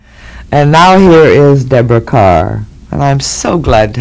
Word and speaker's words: Kerr: e r r and it's pronounced car that's right I I when I first came here you know that I went through this awful publicity campaign of Deborah Carr rhymes with star now that's enough to set you back 10 years isn't it awful I still get called K and in Scotland they call me care so I answer to